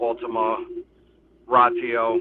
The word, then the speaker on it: Ultima Ratio: Um, it's called Ultima Ratio. That's how you pronounce it.